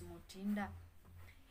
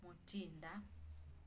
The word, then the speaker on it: Motinda: If it's given to a male, then it will be pronounced as Motinda. If it's given to a female, then it will be pronounced as Motinda.